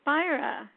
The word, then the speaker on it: Spira: now for my guest Julie SP is it pronounced spy or spir it is spyra oh I got it right you got it